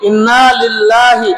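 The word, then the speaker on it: إنا لله: লিল লরশিল কি হয়ল নাকি নল সঠিক উচ্চারণ কি আমরা ভুল করবো না এটা বলব কি ইন্নালিল্লাহি ইন্নালিল্লাহি ইন্নালিল্লাহি ইন্না ইল্লা ওয়া ইন্না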